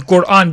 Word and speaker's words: Quran: want to pronounce it, I prefer to pronounce it as Quran because that is the dialect of the people of Yemen, and the Prophet praised the people of Yemen many times.